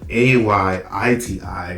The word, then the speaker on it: Ayiti: way you pronounce it, it's like AYITI, where it's like IET. So it's like not, you know, the H, you don't really stress it. Like they were stressing the H, like Haiti.